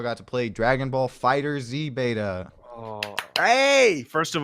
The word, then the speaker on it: FighterZ: mad when you say Fighter Z because they're like it includes Dragon Ball and super stuff not just Z they probably thought about that well it's just pronounced fighters it's cuz the logo